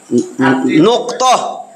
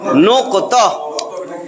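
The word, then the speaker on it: نقطة: 29 টি তার মধ্যে নুক্ত আমরা নুক্তা বলি আসলে নুক্ত নুক্কত এরকম আর কি বানান নুক্তা বলেন সমস্যা নাই এটার একটু উচ্চারণ সঠিকটা হইলো নুক্কত নুক্ত নুক্ত নুক্ত মানে চিহ্ন ফোটা অনেকগুলা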